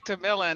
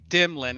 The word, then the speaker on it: DeMillan: No, I like DeMillan. It's just Fresh likes to call me Dimlin because I don't like to be Oh, called okay.